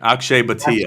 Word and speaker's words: Akshay Bhatia: Akshay Bhatia.